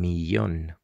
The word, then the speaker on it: millón: 1,000,000, un millón. Remember, double L is pronounced like long E, un millón.